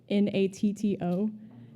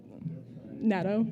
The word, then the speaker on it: natto: My brother is also trying to get my family into I'm afraid I will mispronounce it, so I'll spell it. N A T T O. Um natto.